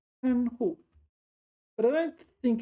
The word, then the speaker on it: 看护: So how do you pronounce this? 看护.